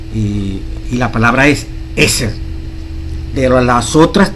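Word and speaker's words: עזר: Hay una palabra especial que se pronuncia, que significa idóneo. Y la palabra es eser.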